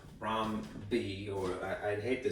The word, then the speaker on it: rhombi: Rhombi, or I'd hate to say this because it doesn't sound like correct. It's not correct Latin, I believe. All right, rhombuses. All right, I believe it is pronounced rhombi.